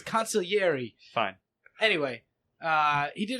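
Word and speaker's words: consigliere: conier conier no no there's no G you don't pronounce the G it's coniler fine anyway uh he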